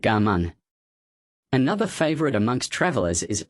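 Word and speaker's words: Cảm ơn: Thank you is pronounced Ga Mun.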